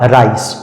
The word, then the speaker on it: rice: उसी तरह से आगे है RICE, यहां पर भी सी के बाद ई आया है तो सी का सही उच्चारण हो जाएगा सा और इस शब्द का सही उच्चारण हो जाएगा राइस, राइस। उसी तरह से सी के